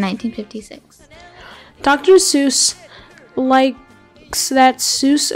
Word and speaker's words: Seuss: dr seuss likes that soos rhymes with mother goose so he adopted that